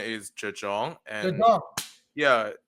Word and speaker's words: Zhang: Yeah, I I think the correct pronunciation is Jong.